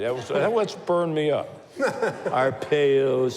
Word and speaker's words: Arpaio: once burned me up Arpaio's so bad our pale it's Arpaio it's not our pale everybody knows how to